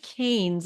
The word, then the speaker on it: Canes: we came on but Dr David KES I'm hoping I'm saying it right hi got it right welcome to this new